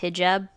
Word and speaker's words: hijab: and I mean I wanted to add it's pronounced hijab and it was essentially kind of implied in